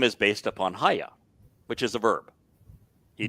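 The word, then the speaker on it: היה: And it's pronounced Haya. No one disagrees that it's pronounced Haya.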